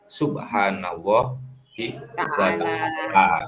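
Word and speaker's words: Subhanahu wa ta'ala: Yang betul itu bacanya bukan SWT, tapi Subhanallah wa ta'ala. Itu ya, teman-teman lain seperti itu ya.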